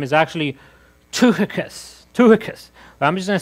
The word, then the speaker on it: Tychicus: The actual pronunciation of this first name is actually Tychicus.